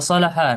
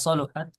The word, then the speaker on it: صلح: Salaha di sini ada dua cara baca. Salaha bisa sol karena dalam hadis ada riwayat yang menjelaskan idza salahat salahal jasadu kullu wa idza fasadat fasadal jasadu kullu. Ada juga yang membaca idza saluhat saluhal صلح.